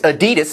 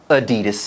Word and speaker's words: Adidas: H&M and now Adidas. Or and Adidas, as they pronounce it in Europe. Adidas. Adidas. All day I dream about sports. That's apparently the correct pronunciation, Adidas. But yes, in North America, it's Adidas.